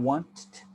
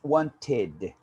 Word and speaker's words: wanted: cell one ted okay it's not want it's wanted you you pronounce the i decided started again of course i'm exaggerating i just want to show you guys the difference the difference in the pronunciation wanted wanted decided started but it's important to the id the id at the end ah and then you